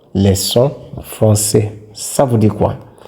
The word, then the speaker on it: leçon: Wherever you see the cedille, you know that you pronounce the C like S. For example, garçons, leçons.